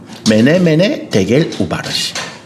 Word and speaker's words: 메네 데겔 우바르신: 어떻게 읽습니까? 메네 데겔 우바르신이라고 읽어요. 메네 데겔 우바르신.